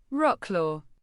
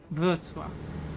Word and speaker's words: Wrocław: Rocklaw. I think it's called Breslau, actually. Breslau. That's way easier. And I don't think we have a name for it in Spanish. Wrocław.